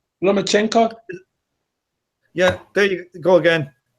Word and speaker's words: Lomachenko: People pronounce their names wrong more often. It's Lomachenko. Lomachenko.